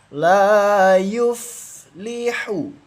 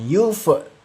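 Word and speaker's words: لا يفلح: Dialirkan fnya fa sukun dialirkan jangan dipantulkan. Kalau dipantulkan salah. itu termasuk bacaan qalqalah. Karena fa ini atau fa sukun termasuk hukum bacaan rakhawah yang dialirkan membacanya. Jangan yuf. Yuf itu salah ya teman-teman.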